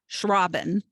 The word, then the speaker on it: Schrauben: And today I have with me Schrauben. And she had a really great way of telling me how to say her name. It's like shushing the robin, which I guess since